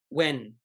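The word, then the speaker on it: Nguyen: Goan is Gan pronounced when why is pronounced when okay there you go just shows you how ignorant I am the correct of enem starts with the sound as in singer then translate okay so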